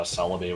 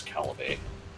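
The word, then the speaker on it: Celebi: I learned that uh Celaby was not pronounced as Calib.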